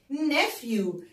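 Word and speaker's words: nephew: كده نكتبها مع بعض ان ايه مع بعض بيتنطقوا فنقول فنقول فنقول نفيو نافيو عشان ممكن يجي لك سؤال ويقول لك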